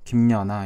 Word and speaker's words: 김연아: 우리가 이 첫 번째 단어 이름을 보면은 김연아 이렇게 발음하는 경우가 많은데 사람에 따라서 니은을 첨가시켜서 김연아 이렇게 발음하는 사람도 있습니다.